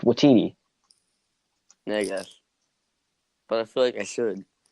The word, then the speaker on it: Waititi: Yeah, but you don't have to go Waititi. It's just Waititi.